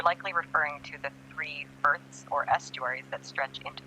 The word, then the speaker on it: firth: But what's a berth? Did I pronounce it correctly? Almost there. It's pronounced Firth, like Earth, but with an F.